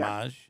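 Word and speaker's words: Mage: Is it Maj? Is that how it's pronounced? Yeah. Maj.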